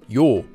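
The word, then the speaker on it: ㅛ: This vowel is pronounced yo like the yo sound in the phrase check it out yo.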